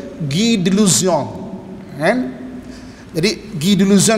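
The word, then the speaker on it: Guy de Lusignan: Kalau ikut dia punya bunyi, Guy, G-U-Y, Guy de Luzion, Lusigna, L-U-S-I-G-N-A, Lusigna. Nah, tapi pronunciation dia Guy de Luzion.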